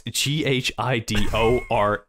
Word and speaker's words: Ghidorah: Oh, it's G-H-I-D-O-R-A-H.